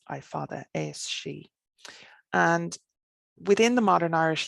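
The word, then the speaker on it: Aos Sí: be aos a separate word s i father ascii and within the modern irish language we would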